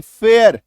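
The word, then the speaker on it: fare: मात्रा अ र एफ एफ ए आर ई फेयर एकार की मात्रा अ र है ना फेयर में यहां पे य मत लगाइएगा ठीक है देखो फेयर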